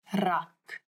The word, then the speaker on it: rak: Rak, rak, shelf. Die rak is vol stof. The shelf is full of dust. This word it doesn't have the ch that we've been talking about, but now we've